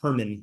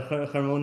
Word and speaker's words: Hermon: trying to be funny, he would pronounce like Herman, like the name Herman, you know? So, I always see the like not Herman, you know, good old Herman there. Yeah. Uh the Hermone Mountains.